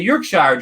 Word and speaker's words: Yorkshire: yeah yes part of the east part of York Shire drilling secrets is that is that correct that's say that again wrong is it is Chris part of the York Shire drone stickers am I saying that correct of